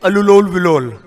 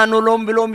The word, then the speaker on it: अनुलोम विलोम: अलुलोल विलोल। अरे कुछ तो बोल रहे हैं ना। किसी को इतना नहीं बोलना आता, अनुलोम विलोम याद नहीं रहता, या बोलने में थोड़ा प्रोनाउंसिएशन में दिक्कत होती है तो ऑल्टरनेटिव ब्रीदिंग बोलते हैं।